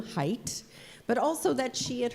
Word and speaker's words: Haidt: chat let us know not only how to pronounce the man's name, Haidt, but also that she had heard a podcast in which he had spoken, and she shared that experience with us.